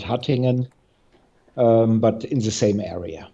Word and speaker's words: Hattingen: So let's say that the Hattingen was, is it, I pronounced it correctly, Yeah, fine.